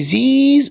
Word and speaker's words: these: طيب في زيز وزوز، في زيز وزوز اللي هو الجمع القريب زيز والجمع البعيد زوز، الاس اتنطق شبه الزي، شبه ايه؟ الزي.